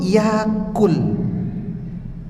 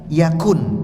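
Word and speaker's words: يكن: Nah, walam habis itu yaakul. Padahal tertulis di mushaf itu adalah yakun pakai kaf. Kalau terbacanya agak-agak mirip qaf menjadi yaakul itu beda banget artinya ya.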